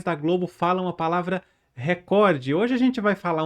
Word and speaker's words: recorde: Aegando que os apresentadores da Globo, jornalistas, apresentadores esportivos, eles não pronunciam a palavra recorde da forma que está no vocabulário ortográfico da língua portuguesa, que é essa que eu tô falando, record, certo? Eles pronunciam record.